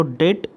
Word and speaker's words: debt: तो यहाँ पर उन्होंने क्या कहा था कि जो डेट, इसको डेट कहते हैं, DEBT, बी साइलेंट है यहाँ पर, डेट टू जीडीपी, ये जो रेशो है ये कितना रखना है, टोटल 68%।